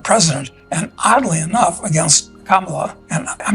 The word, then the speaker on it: Kamala: of them are correct it should be prounounced kimala which means in Spanish uh how bad how bad so maybe the us